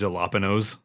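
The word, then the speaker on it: jalapeño: It's pronounced jalapenos.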